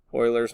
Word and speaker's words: Euler: as well this involves a special number so euler's number it's very important for exponential functions so for number two let's just write down what that is so number two is euler's number so it looks like euler but you're